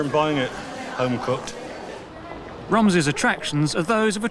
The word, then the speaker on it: Romsey: or around Romsey, is what is the correct pronunciation? I have always said Romsey. There are those locals who always say it's Romsey. And the Romsey, they say, goes back to the old Saxon spelling, R-U-M-S-E-G-I-N-E.